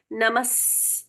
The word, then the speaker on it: नमः: आधा स, तो ये विसर्ग का उच्चारण स मानकर पढ़ना चाहिए। नमः, म के साथ में स जुड़ गया।